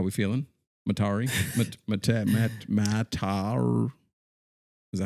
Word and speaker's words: Metairie: I know you're joking, but all I'm thinking about is I saw people in the comments being like, "It's Metri," and I put It's that not I put that Metri, under the first of same all.